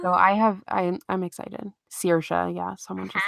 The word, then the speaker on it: Saoirse: It's Saoirse.